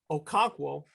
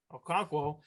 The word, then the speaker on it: Okonkwo: Now that you have Hoop and you have Okonkwo, I said it right, Okonkwo, yeah.